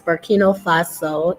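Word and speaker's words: Burkina Faso: in um you could look it up it's burkino fasso it's spelled b-u-r-k-i-n-a faso f-a-s-o and that is in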